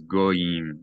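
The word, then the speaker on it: גויים: Many people mispronounce this as goyim, goyim. It's not goyim, it's goyim, goyim. There's a Y there, goyim, a goyim.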